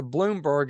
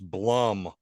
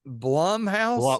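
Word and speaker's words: Blumhouse: it rotten yeah so we know it's a Bloomberg as I call it production and me and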